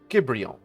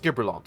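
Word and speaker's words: Gibrillont: Gibrion. Gibrillon? I don't really know how those double L's are supposed to be pronounced. Just Gibrillon will do.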